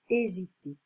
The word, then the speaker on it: hésiter: So this is chapter 7, hésiter. So don't forget, in French, we don't pronounce the H. So hésiter.